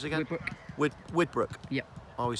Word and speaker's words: Widbrook: Widbrook. Yep. I always say the name wrong. Whitbrook have been given 400.